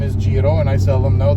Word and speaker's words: Giro: does it mean okay so jiro in italian means tour and a lot of people come in and say gyro and it's not gyro a lot of